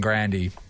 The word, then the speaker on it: Grande: get this up here Grande literally means big in Italian all right here we go Ariana Grande it's not cuz there's a video of her saying Grandy that's how you're supposed to say it so so Google ariana